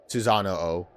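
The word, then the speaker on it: Susanoo: So you do pronounce both O's. Susano O.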